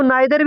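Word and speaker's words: neither: इसको नाइदर भी बोलते हैं, नीदर भी बोलते हैं। ठीक है, दोनों प्रोनाउंसिएशन होता है।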